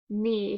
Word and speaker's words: knee: Next one, we have KN, K is silent, so we have N, E, word is knee.